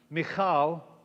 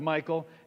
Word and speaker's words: Michal: But Saul had given his daughter, which I've learned because of the house of David to pronounce Michal instead of Michael, David's wife, to Paltiel, son of Laish, who was from Galim.